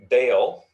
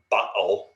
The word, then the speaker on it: Baal: a local midianite god baal or baal would have been kind of the pronunciation but baal of pior now the word bail um it's the one we're most familiar with the pronunciation of means master and so